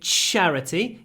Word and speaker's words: charity: a charity when you say charity give it a lot of sh it's not just Russian it's charity charity lots of sh in charity obviously is a very